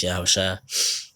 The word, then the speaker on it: Yahushua: call Jesus, the Lord, the real name in Hebrew, really how you supposed to say his name is Yahushua.